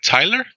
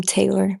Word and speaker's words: Taylor: Am I saying it right? Tyler? Am I? It's Taylor, but it's cool. Taylor. Yeah, Taylor. Yeah.